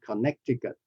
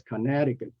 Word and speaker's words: Connecticut: and this state in the US is not Connecticut it's Conneticut conet Connecticut uh Freud Hawaii Illinois Illinois um